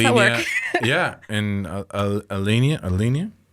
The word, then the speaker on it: Alinea: how how does that work yeah and uh elenia elenia Elena Elena Elena alinea yes sorry for my pronounce in Chicago they don't talk you can't